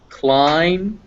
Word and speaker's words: climb: b b okay yeah b uh yeah is never pronounced if it follows an m so comb climb dumb you don't pronounce that